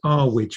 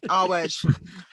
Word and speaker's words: Earwig: I meant to pronounce it Arwidge, apparently. Yeah, Arwidge. Arwidge.